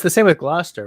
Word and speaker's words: Gloucester: Why are there so many letters in that word that aren't pronounced? Well, it's the same with Gloucester, right? It's not Gloucester, it's Gloucester.